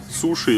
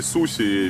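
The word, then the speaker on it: 寿司: Так, только что у владельца леопардового бара мы выясняли, как правильно произносить. Сибуя или Шибуя, Суши или Суси, Митсубиши или Митсубиси.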